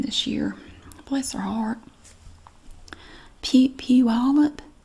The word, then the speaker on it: Puyallup: Puyallup. That's not what it looks like at all, but she said it was pronounced something like that.